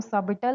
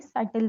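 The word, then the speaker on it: subtle: The letter B जो है वो उसमें साइलेंट है। इसलिए हम इसको सबटल नहीं सल पढ़ते हैं।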